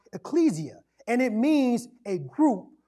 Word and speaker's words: ecclesia: building the word church in the greek is pronounced ecclesia and it means a group or a called